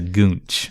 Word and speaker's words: goonch: A gooch is a gooch is something else. This is a goonch, but we're not to it yet. Okay. Yeah, wait for categories, Jeff. So I'm saying the gooch. you're saying gooch. Yeah. You're saying it wrong.